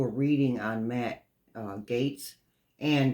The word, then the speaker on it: Gaetz: reading on Matt uh Gates and before anybody corrects me on the way that is pronounced I looked it up and it says I quote sounds like G A yts Gates okay let's get that